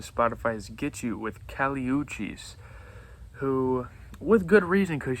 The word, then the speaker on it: Kali Uchis: I believe she's from Colombia, so her name is actually pronounced Kali Uchis, I believe.